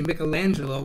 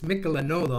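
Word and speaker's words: Michelagnolo: and his brother michelanolo it's not actually michelangelo but it's michelanov i don't know why that is he was the famous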